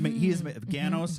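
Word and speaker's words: Ganoes: The heanos is fantasy main character and um and he his name rhymes with oh and his name rhymes with Thanos and so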